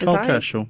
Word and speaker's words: Kerschl: Kerschl. Yeah, that's how you pronounce it.